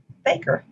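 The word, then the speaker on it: FAKIR: five letters for example the f-a-k-i-r waypoint would be pronounced faker the proposed arrival flight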